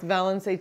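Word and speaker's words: Valençay: Murray's in the Murray's Cheese caves balancer it's pronounced valency cheese that's what I just said do you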